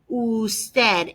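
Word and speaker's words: Ud.: word is pronounced usted usted it looks like it just says ud right but i'm going to type it up here for you it really says usted it's an abbreviation let's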